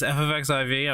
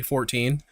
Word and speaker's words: XIV: channel that she says F of XIV I don't know why she's saying F of XIV just say 14. you see it's two syllables four in teen not f of x i v and then it's just